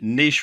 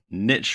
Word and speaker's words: niche: In this video, I want to talk about doing niche research or niche research, depending on how you care to pronounce it, the wrong way.